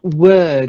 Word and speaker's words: word: Then important one, word. It's not like ward. Word. Word. Word. That's better. Yeah, it's like a in the O is an sound.